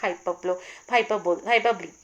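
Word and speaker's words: hyperbole: Last, इस video की last figure of speech है हमारी हाइपरबली, या इसे बहुत सारे लोग हाइपरबोल भी बोलते हैं, बट इसका करेक्ट प्रोनाउंसिएशन इज हाइपरबली।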